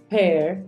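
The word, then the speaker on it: pear: palabras Apple watermelon Orange peir no se dice peer se dice peir cherries strawberries nectarin pilas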